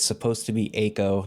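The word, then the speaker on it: Eiko: It's supposed to be Ako, not Iiko.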